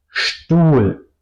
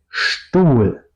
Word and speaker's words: Stuhl: O otro ejemplo, Stuhl. Aparte, starten sí, significa también empezar. Stuhl, la silla, ¿ok? Stuhl, Stuhl, no digo Stuhl, digo Stuhl, SCHT. Y el caso contrario, si la SCHT está o no está al principio de la sílaba, por ejemplo, Liste, Gast, no digo Liste, yo digo Liste, separo S y T, tal cual como en estar, por ejemplo.